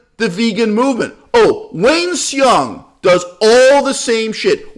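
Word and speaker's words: Hsiung: Oh, Wayne Xiong does all the same shit. Wayne Shung, as he pronounced his name, when he's a leader of, what's it fucking called?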